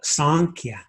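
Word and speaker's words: Sāṃkhya: school the school of sanchia m with a dot underneath it represents a kind of a nasalized sound say the school of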